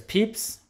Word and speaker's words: Pepys: on are samuel peeps despite being written p-e-p-y-s his name is pronounced peeps you can see his uh his portrait down below there's peeps we'll look at his